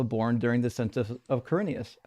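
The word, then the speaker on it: Quirinius: Oh, Corinius.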